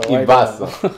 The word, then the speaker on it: iBasso: So iBasso.